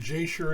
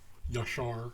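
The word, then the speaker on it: ישר: The Book of Jasher that we are talking about starts out, and Jasher is sort of a mispronunciation. It's Yashar in Hebrew.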